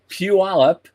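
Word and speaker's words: Puyallup: But Orbital Robotics, which is in Puallup, I got the pronunciation right.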